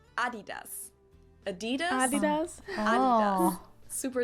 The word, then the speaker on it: Adidas: were referring to because they usually pronounce it Adidas, and in Germany we say Adidas.